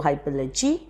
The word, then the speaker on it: hypallage: is an instance of hyperlage now the pronunciation of hyperledges also hypology it's all right if you pronounce it in either way so far as you